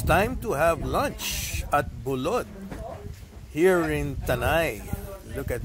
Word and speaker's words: Bulod: BULOD, yeah, okay.